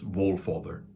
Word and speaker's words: Valfather: it might be pronounced Valfather, V-A-L. But let's look at this word Val, V-A-L, or Vol, if it would be. I think that's the more close real pronunciation from Old Norse, Volfather.